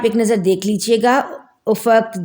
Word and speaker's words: افق: سے نظر آنے والا کنارہ، اور اس کا تلفظ دیکھ لیجئے افق، اس کے اوپر جو ہے اعراب لگا دیے